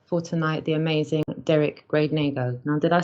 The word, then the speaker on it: Gradenigo: He said Derrick GRADENIGO when it's actually Derrick, and it's an extra syllable in there, GRADENIGO. So it's like GRADENIGO.